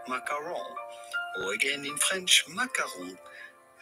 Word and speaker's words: macaron: In too much at the end, do not say macaron, but rather macaron. Or again in French, macaron. Les délicieux macarons. Macaron. So, los macarons, guys. Se dice macarons.